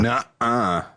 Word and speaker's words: nuh-uh: Yeah, it's not a T. It's a N-U-H. Nuh-uh. But you have to have that glottal stop in there. Nuh-uh.